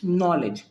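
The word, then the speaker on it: knowledge: भूमिका निभाता है जैसे के एन ओ डब् एल ई डी जी ई इट्स नॉलेज है ना इट्स नॉलेज हेयर के साइलेंट ओके यह आपका प्रैक्टिस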